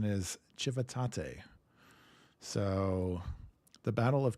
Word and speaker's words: Civitate: as an American my mind says this as civitate of course but apparently the Italian say too right surely apparently the Italians are strange and the correct pronunciation is chivate so the Battle of chivate chivate yeah so all right so 1053 we're